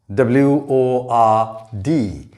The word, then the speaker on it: word: not word it is word the o here represents a sound characteristic of the english language it is a as in purpose bird girl first third person etc and this sound this peculiar sound is represented in phonetics by this symbol with two dots on the right hand side and the two dots indicate that the vowel sound is a long one so this should be